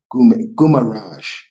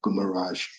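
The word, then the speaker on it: Guimarães: Yeah Gumaraj that's how you say it. That's how you pronounce it. Sorry my bad to all the Brazilians out there. Gumarrage um scored in the 58th minute and then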